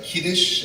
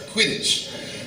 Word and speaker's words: Quidditch: Wonderful books, and despite having those really unusual, strange words like Kiddish, I can never Quidditch, I can never pronounce it right, Quidditch.